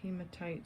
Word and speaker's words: hematite: But it definitely looks like hematite stone.